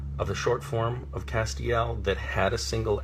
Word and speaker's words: Castiel: in and they will say how do you pronounce your character's name is it castile and i will say no is not Castile its Castiel and that's very important that on the page